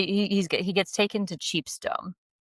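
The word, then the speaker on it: Chepstow: to this place called again, sorry for the pronunciation, but he he's gets taken to Cheapto. Chepto, which is in Ken Littleworth.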